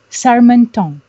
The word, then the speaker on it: Charmetant: I have to pronounce it right. It's a very nice French name. Charmetant.